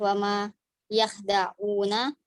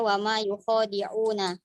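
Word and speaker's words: وَمَا يُخَادِعُونَ: Terus pada asusi pada lafaz wama yakhda'una asusi membaca wama yukhadi'una di domah Aduh, penjelasannya domul Neng. Nah gitu penje- dulu. penjelasannya domul ya wa wazada alif ba'da kho, mendomahkan ya dan menambahkan alif setelah kho.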